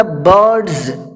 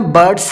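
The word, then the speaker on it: birds: کیا۔ He made the برڈز، دیکھیے میں برڈس نہیں بول رہا ہوں، سین نہیں بول رہا ہوں، زا کا تلفظ دے رہا ہوں۔ He made the برڈز،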